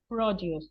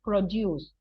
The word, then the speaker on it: produce: So, and use produce, that is the word produce. I am not pronouncing it incorrectly, right? It's not produce, because produce is the verb, and this is the noun, which means la producción local.